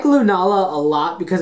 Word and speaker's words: Lunala: Uh, so we got Sgalio for our Sunstarter and Lunala with a long a in there.